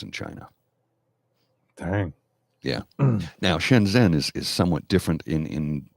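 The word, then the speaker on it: Shenzhen: differently and shenzen also operates differently shenzen is shenzen is how it's pronounced shenzen is how it's spelled shenzen is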